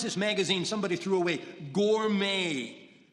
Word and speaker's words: Gourmet: Like yesterday, in a bus, she finds this magazine somebody threw away, Gourmet. It's spelled with a T, but you say it gourmet.